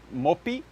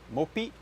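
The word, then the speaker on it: MOPPE: probably is fairly close to the Swedish one mopi I think mopey is how the the the the computer on the on the Google pronounced it but anyway m-o-p-p-e mapa mope however you want to pronounce it uh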